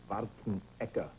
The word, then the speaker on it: Schwarzenegger: is Schwarz and schwarzen actually in Austria they pronounce it schen eeka yeah so it's just